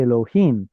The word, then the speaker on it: Elohim: So Jewish tradition says don't pronounce God's name as it's written. Use some sort of a circumlocution instead. Usually that substitute is Adonai, but when it's in front of the actual word Adonai, then you get a chirik right